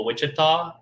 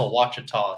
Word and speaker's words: Ouachita: monroe louisiana on the ouachita river got it it looks like it's spelled like a wichita yeah i was like um i'm fishing this place called wichita he's like that's a wachita son i'm like oh